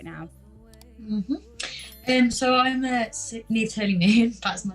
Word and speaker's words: Niamh: It's pronounced Niamh, isn't it? Yeah, Niamh, that's right.